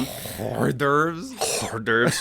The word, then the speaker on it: hors d'oeuvres: Hors d'oeuvres? Hors d'oeuvres. That's just how it's properly pronounced.